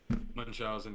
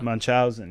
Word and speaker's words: Munchausen: Is that how you say it? Munchausen, yeah. Munchausen, yeah.